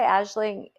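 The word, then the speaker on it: Aisling: to read it so um did you say ashing U is your social media yes yeah okay can you spell it because the spelling is a little funny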